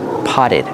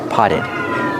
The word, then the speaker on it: potted: the Ed after pot use a double tea potted the Double T is pronounced as a fast D potted potted these are potted plants